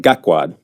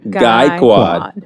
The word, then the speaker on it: Gaikwad: So it's a long A sound. It's just guy. It's like, Guy. you think of G-U-Y, guy. Gaikwad. Ah, Yep. Gaikwad. I got to remember that. Like Geico. Yeah. like Geico.